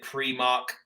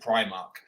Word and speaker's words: Primark: High Street shop is she calls it pre-mark yeah okay and obviously the rest of the world and their dog calls it Primark but uh but Beth is under this crazy assumption that it's pronounced Primark so maybe that leads